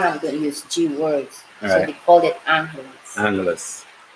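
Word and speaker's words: Angeles City: pronounced say you know what I used to pronounce it Angele City Angele City then people said no you're pronouncing it wrong it's angly City look you're from here how do you say it I know this Angeles so there it is somewhere that lives here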